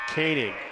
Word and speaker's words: Keane: we got going here they pronounce it caning okay cole kanan phonetically that's not how it goes hop will take a